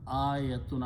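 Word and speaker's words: آية: In Arabic, when you have a Hamza and Alif with a fatah, this sound is a.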